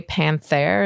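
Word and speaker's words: Panthère: have watchh yeah this was it's the Cartier Panther is that how you pronoun it that's how it's pronounced yeah it's was for my 40th birthday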